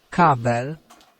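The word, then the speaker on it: kabel: how we get the polish for cable cabbell cabbell so we're going to try asking Is it a universal cable?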